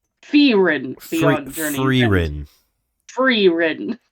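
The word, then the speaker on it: Frieren: ready go ahead Fein Beyond Journey's End it's pronounced ferin freen Beyond Journey free free Ren Beyond Journey's End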